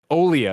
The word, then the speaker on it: Olija: it like a billion different ways i say elijah elijah that makes sense too i'm here ign's video review i'm starting right now they say it right in the front olea is what they say well i didn't i